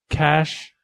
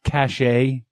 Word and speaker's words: cache: Uh, it's pronounced cash, not cashache.